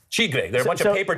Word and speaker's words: tigre: How do you say tiger in Portuguese? Tigre. Tigre.